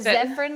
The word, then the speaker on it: Zefran: the years i'm like i've always said zefran like aspirin i love it yeah